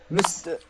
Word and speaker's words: missed: missed, missed, Missed. Yes, it's pronounced Missed. like t.